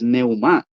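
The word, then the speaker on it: πνεῦμα: ya en el str la palabra neuma que da que que nos da para espíritu que es aliento en su pronunciación es neumá pero en el stron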